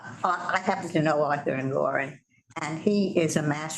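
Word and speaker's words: Engoron: Judge Engeron, remember him? He demanded. Pronounced Angoran. Angoran.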